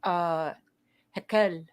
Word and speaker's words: Raquel: Maybe a lot of it's apparently like a pretty popular name for Spanish speakers and Portuguese, but I believe it's a Portuguese name, and in Portuguese it's pronounced Raquel.